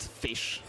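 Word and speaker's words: ghoti: pronounced f the o in women is pronounced e and the ti in nation is pronounced sh then goi is just pronounced fish and that is absolutely incredible.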